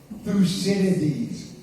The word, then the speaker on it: Thucydides: For anyone who would like to know how to pronounce it, Thucydides.